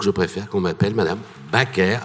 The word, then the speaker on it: Baker: il faut prononcer c'est Baker et là ma mère l'a repris en disant non je préfère à la française donc je préfère qu'on m'appelle madame baaker à la française parce